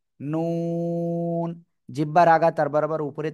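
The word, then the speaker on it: ن: জিহ্বার আগা তার বরাবর উপরে তালুর সাথে লাগিয়ে নুন, নুন।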